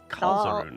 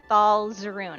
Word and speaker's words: Thal Zerun: I think you are saying it wrong. I think I think it's Kzerun, is it not? Thalzeroon. Yeah, Thal. Yes, Thal Zerun.